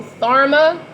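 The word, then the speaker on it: Tharma: in your highest self so Therma t-h-a-r-m-a rhymes with Karma you good karma for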